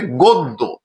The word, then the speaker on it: গদ্য: কিন্তু নিয়ম অনুযায়ী দেখা যাচ্ছে গ এর সাথে অয়েছে এবং দ এর সাথে জ ফলা রয়েছে। তাহলে অটি ও এর মত উচ্চারণ হবে। শব্দটি হবে গদ্য।